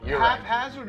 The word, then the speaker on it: haphazard: denying people are wrong half hazard is the only word where the ph is not pronounced like an f so that's i am